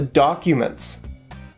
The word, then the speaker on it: documents: so where are the documents right here we have a stress on where and a stress on the first syllable in the word documents so where are the